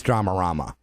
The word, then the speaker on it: Dramarama: It's DRAMARAMA.